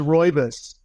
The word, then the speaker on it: rooibos: We've got caffeinated black teas and green teas, and we have non-caffeinated chamomile, and it's pronounced rooibos.